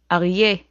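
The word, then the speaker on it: אריה: Arye. That's a lion. Arye. The A sound comes from the throat.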